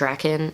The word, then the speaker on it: Drakkon: end of the trailer jdf says Lord reckon which is great because I have been afraid for ever since I started this YouTube channel that I'm just saying it wrong and to know that he actually said it II official beg Lord Drac and I'm like this is like dragon like dragon okay regardless we are